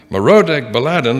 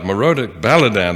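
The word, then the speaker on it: Merodach-baladan: ahaz at that time merodek baladan the son of balladan i didn't pronounce that first one right morodic baladan the son of baladan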